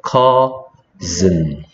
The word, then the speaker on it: cousin: c 그다음에 S가 쓰나 즌데 여기서 z. 그다음에 I가 소리 안 나고 any. 그래서 cousin, cousin.